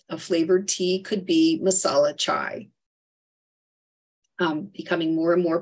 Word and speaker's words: masala chai: wanting a TT but the correct way to say this is masalachai there's also subgroups of